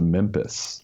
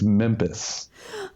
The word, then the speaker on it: Memphis: my daughter Ali is convinced that Memphis is pronounced Memphis it's Memphis oh and I don't have the heart oh